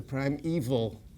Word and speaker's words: primeval: uh the primeval history don't confuse that with the word evil it's the prime evil history like evolution you know